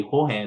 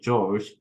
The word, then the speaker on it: Jorge: of genetics He also mentioned his pronounced name pronunciation should be Jorge not the George uh because George is his advisor um in